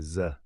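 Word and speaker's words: ز: la prochaine lettre c'est Z elle se prononce comme le Z français regardez bien Z ça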